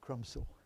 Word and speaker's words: Crumpsall: up with crumpsall Hospital of course Krum saw that's what it was called crumpsville Hospital you've got to say it like that would you like a northerner so that's where I